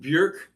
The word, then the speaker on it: Björk: Actually pronounced Björk. Well, it's pronounced Björk. Why can't they spell it that way? Yeah. Well, she's got an umlaut over there, so that might actually explain the Björk.